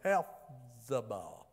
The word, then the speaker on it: Hephzibah: But you shall be called, and this is not Hezbollah, it's Hephzibah. I can't pronounce it right.